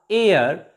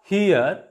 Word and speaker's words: heir: also silent here and h e i r air not here honorable not honorable pay